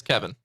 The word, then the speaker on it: Kevyn: okay okay and and kevin is kevin i mean it's spelled different but yeah it's kevin all right i like